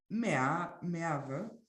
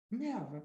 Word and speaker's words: Merve: Merve, as in German pronunciation is good enough. Merve.